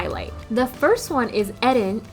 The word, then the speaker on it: Eren: The first one is Eren, and yes, I say his name like that. I'm Japanese, the show is Japanese, so I'm gonna use the Japanese pronunciation.